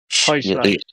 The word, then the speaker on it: Heuchler: Is it Heukler? Heuchler. Yes, exactly. Heuchler.